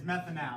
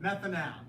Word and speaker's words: methanal: it's Pro yeah it's methan now that's how you say it methan now methan now meth because there's one